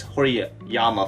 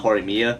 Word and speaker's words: Horimiya: i got started i've been calling the series hori yama for some odd reason not horimia and finally cracking myself all these years just